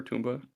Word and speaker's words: Tomba: I've never played a Tomba or yeah you pronounce it Tomba right or tumba uh I always say Tomba um the uh the